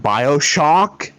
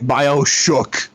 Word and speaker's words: BioShock: Oh god, the way you're pronouncing it makes it sound like you aren't calling it BioShock. It sounds like you're calling it BioShook.